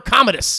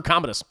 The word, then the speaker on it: Commodus: com how do you say his name Emperor Commodus Emperor Commodus terribly vexed initially budgeted at 165 billion sources